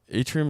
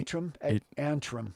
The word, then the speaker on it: Antrim: And Atrium, is that how you say it? Atrium or Atrium Point? Antrim. Antrim.